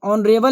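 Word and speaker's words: honourable: इसका आंसर नहीं होगा अगर किसी वर्ड की शुरुआत कोसोनेंट से होती है लेकिन उसका उच्चारण वोवेल की तरह होता है जैसे कि इसको पढ़िएगा तो ऑनरेबल लिखा है ऑनरेबल ऑनरेबल तो ऑनरेबल एक स्वर वर्ण है और स्वर वर्ण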